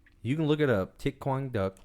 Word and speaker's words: Thích Quảng Đức: Thích Quang Duck. It's spelled like thick, but without the K. And then Quang is Quang. Just how it sounds. And then Duck is D-U-C.